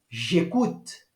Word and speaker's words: j'écoute: Então, a pronúncia fica j'écoute.